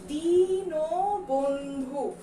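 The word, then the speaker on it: দীনবন্ধু: তারপরে দেয়া আছে এটার উচ্চারণ কি, আমরা কি এটার উচ্চারণ যেভাবে বানান দেয়া আছে সেভাবেই করব? দিন বন্ধু, আমরা কিন্তু এটা এভাবে উচ্চারণ করি না, আমরা এটাকে কিভাবে উচ্চারণ করি? দিন বন্ধু। তাহলে এই দীর্ঘিকারটা তো প্রথমেই ঋষিকারে বদল হয়ে যাবে, দিন বন্ধু।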